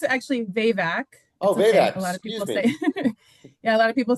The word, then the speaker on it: Vavak: And you pronounce it actually VVAC. Oh, a lot of people say Yeah, a lot of people say vavvach, but yeah, and um I'm so happy to be here.